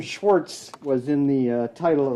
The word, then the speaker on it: Schwarz: Schwarz with a Z pronounced the same way.